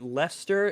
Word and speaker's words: Leicester: Is that Leicester? Is how you pronounce that? Leicester? Yes. Welcome to Leicester.